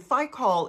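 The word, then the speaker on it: Phicol: and faicol the commander of his forces and faicol is spelled p-h-i-c-o-l um isaac asked them why have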